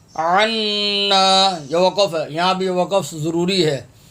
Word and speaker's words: عنا: زبر وا، واعفو واعفو عنا، انا نہیں، یہاں بھی لوگ غلط پڑھتے ہیں، انا الف خالی پڑھ رہے ہوتے ہیں، انا، یہ عین، عین نون زبر عن، عنا عنا، یہ وقف ہے، یہاں